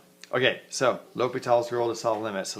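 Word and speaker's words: L'Hôpital: but I think that for the correct French pronunciation is this French guy and people say l'hopital's now so that's what i'll try to say not l hospitals okay so l'hopital's rule to solve limit so let's review limits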